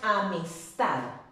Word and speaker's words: amistad: Si yo lo separo en sílabas, amistad. ¿Será una palabra aguda, amistad? Claro que sí es una palabra aguda. ¿Por qué? Porque su fuerza de voz recae sobre la última sílaba.